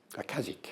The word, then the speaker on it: Aleksic: Akazic, I think that's how you pronounce him.